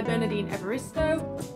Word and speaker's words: Bernardine Evaristo: The next book that I want to read is Girl, Woman, Other by Bernardine Evaristo. Yeah, that's how you pronounce the name.